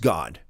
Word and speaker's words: Gad: And Gad does not mean God, even though it's pronounced God.